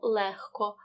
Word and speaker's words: легко: вимовляємо як х вогко в слові легко знову дзвінки г передки вимовляємо легко у слові кігті г